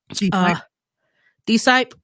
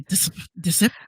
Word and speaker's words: D-Sipe: D-Sipe? Like short for disciple. Oh, well, shit. I used to say disip.